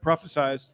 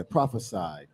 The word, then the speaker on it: prophesied: Prophesized. Yeah, prophesied, not Yeah. prophesized.